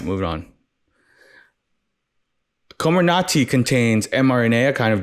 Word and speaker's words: Comirnaty: I'm getting from this komarnati great name again Comer Nati reminds me of uh what's that Sherlock Holmes villain the Sherlock Holmes villain name um what's his name uh someone Sherlock Holmes villain rhymes with komarnati I